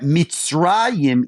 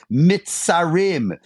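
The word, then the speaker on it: מצרים: And the Hasidim say that Mitzrayim, Egypt, can also be pronounced mitzarim, the narrow places.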